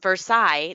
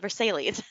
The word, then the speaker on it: Versailles: really famous like hi Versailles that's like totally famous how do you take Versailles spell it the exact same way and then call it Versailles this is not it's not right Sarah said she's from